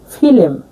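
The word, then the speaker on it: filem: দেখুন ফিলেম। ফিলেম। ফিলেম মানে চলচ্চিত্র। যেমন আমরা ইংরেজিতে বলি ফিলিম। আর মালয় ভাষা উচ্চারণ হবে ফিলেম।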